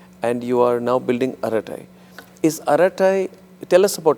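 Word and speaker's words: Arattai: flat out and we have what is Aratai?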